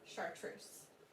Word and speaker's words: chartreuse: How would you describe the color chartreuse?